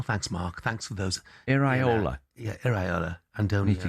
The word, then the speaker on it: Iraola: how to pronounce Iraola It starts with an I. It's not that hard. Well, thanks, Mark. Thanks for those. Iraola.